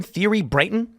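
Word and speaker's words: Thierry Breton: How do you pronounce this guy's name? Thierry Brayton?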